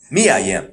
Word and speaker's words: Mia Yim: It's Mia. Mia Yim, thank you.